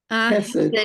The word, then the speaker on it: Chesed: Chesed? Hesed. Yes, I Almost mean, like blessed.